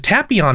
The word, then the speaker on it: Tapion: is based on because tapion is based on tapioca which is how i know how to pronounce that oh i never it's